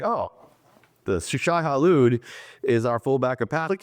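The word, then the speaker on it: Shai-Hulud: Yeah, Shai Halud, the giant worm.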